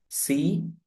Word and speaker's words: content: C-O-N-T-E-N-T. Content. Content is where is the stress? In the first syllable.